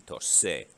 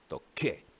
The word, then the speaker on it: toqué: If you don't change the C to a QU, then the C turns into a soft C in front of E. C in front of E is soft. It would be tosé. And you don't want that sound. You want it to stay hard. Toqué.